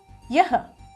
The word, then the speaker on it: yah: The first word here is yah. It's a y and a h which is pronounced as ya.